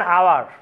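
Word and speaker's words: hour: অ্যান আওয়ার, অ্যান আওয়ার, এখানেও এইচ দিয়ে শুরু হয়েছে বাট উচ্চারণ হয়েছে ও এর, যার কারণে আমরা এর পরিবর্তে এন দিয়েছি।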